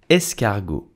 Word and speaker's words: escargot: So how do you pronounce snail in French with the correct accent? You will say escargot. Escargot.